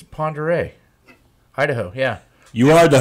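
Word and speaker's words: Pend Oreille: But if you look at the spelling of it, it does not look like Ponderay one iota. It's the French way.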